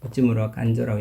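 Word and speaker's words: 内村鑑三: 대표적인 사람이 내촌감삼이라는 우찌무라 간조, 일본말로 우찌무라 간조라고 읽고 한자로는 내촌감삼이라고 하죠.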